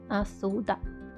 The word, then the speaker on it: Asuda: Like, here's the kanji, and here's how you read it. Asuda. It's a kind of weird reading, actually.